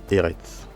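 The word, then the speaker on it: ארץ: Donc ici nous lisons Eretz.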